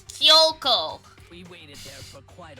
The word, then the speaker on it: Kyoko: Kina Koko and myself it's not Koko it's kioko we waited there for